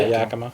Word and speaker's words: Yakima: Did I pronounce it right? Yeah, Yakima.